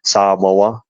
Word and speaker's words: Samoa: well for Samoa uh sorry Samoa as they are pronounced correctly and then my third